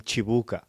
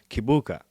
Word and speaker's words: Kibuka: when I moved to America, the Americans will call you Kibuka. So Buka, here, yeah. yeah, hearing that all the time, you start pronouncing your name Kibuka because you want them to understand it. So when I say Chibuka, like they're confused and they're pretty like